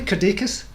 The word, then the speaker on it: Kirdeikis: Kirdeikis, am I pronouncing that correctly? Kirdeikis? You're nailing it. I've got it. Excellent, excellent. Yeah. I like to get people's names right. Kirdeikis, welcome to the CYT Crypto Show.